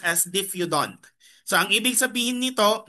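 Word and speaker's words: diphyodont: It is pronounced as diffudant.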